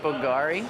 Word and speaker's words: Bulgari: I think it's pronounced Bulgari, but yeah. Yep, Bulgari.